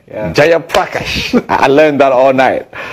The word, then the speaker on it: Jayaprakash: Jayaprakash. I learned that all night. I was like, what's this name pronounced like?